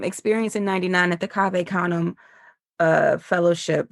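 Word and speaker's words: Cave Canem: in 99 at the cave kum uh fellowship which thank you for saying it correctly cuz I always thought it was pronounced cave kanuman. I was like oh that's how you say that.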